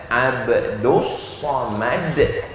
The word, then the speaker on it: Abdul Somad: Tulisannya Abdul Somad, tapi diucapkan Abdus Somad .